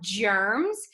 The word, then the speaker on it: germs: It's a G, but it sounds like it should be a J. That means it's a soft G.